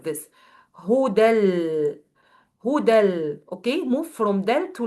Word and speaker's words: هدى: So you will pronounce it like this, huda. So it's not ya. You will not pronounce it as ya. I know it's written as ya, but you will pronounce it alif.